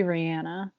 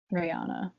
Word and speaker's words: Rihanna: everyone knows about but they still say it wrong rihanna yeah it's supposed to be rihanna yeah i know but i still say rihanna me and me too